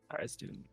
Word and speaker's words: Tharizdun: Darazadun, how do you spell that? Tharizdun. Cool. Darazadun? How does Matt say it, Chef? Darazadun.